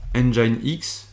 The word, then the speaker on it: Nginx: va faire c'est tout simplement un apt-get installe engine x qui s'écrit de cette façon tu irais y pour